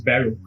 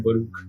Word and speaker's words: Baroque: basically we have Baruch with us, and I didn't know that the pronunciation was Baruch. I used to call him Baruch.